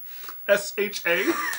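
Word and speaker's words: Sharah: Say we have a fan who wants to spell that. S-H-A-R-A-H.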